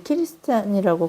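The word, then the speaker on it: キリシタン: 뒤돌아서면 자신은 여전히 키리스탄이라고 이제 그리스도인을 그 일본 사람들이 키리스탄이라고 그렇게 발음하던데 자신은 여전히 뭐 입술로는 예수님 부인하지만 자신은 키리스탄이라고 그렇게 믿는다고 울부짖으면서 또 회개하는 극중에 어떤 사람들도 있었죠.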